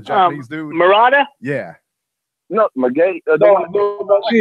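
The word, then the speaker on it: Munguía: No, Munguia. Munguia.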